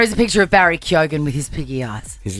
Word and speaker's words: Keoghan: We've always said that correctly because it's Keoghan. And what do people say? Keegan, what do they say? Kogan? Keoghan. I've heard Keoghan before.